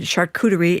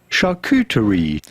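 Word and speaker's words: charcuterie: much less important matter apparently I said shakurerie incorrectly so we now have Julian Miguel with a pr correct pronunciation shakuterie Oh, you were close.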